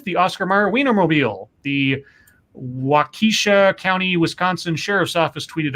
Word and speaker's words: Waukesha: I think it's pronounced Waukesha. Waukesha?